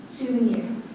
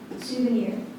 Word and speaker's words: souvenir: ocean please to now are there any alternate pronunciations souvenir souvenir s o u v